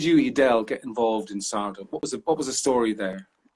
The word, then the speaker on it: SARDA: about, first of all, I'm not even sure if it's pronounced SARDA Ireland. Is that how you pronounce it? Yeah, it is, grand. Yeah. So SARDA Ireland is a voluntary